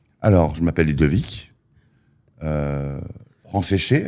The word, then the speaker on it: Franceschet: Euh, Fran séché, alors pour prononcer mon nom, tu penses à France mouillée. France séché, voilà, c'est tout simple.